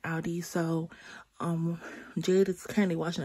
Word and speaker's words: Aldi: Yeah, I'm pronouncing it right, Aldi.